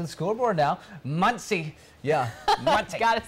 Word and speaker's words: Muncie: Yeah, Muncie.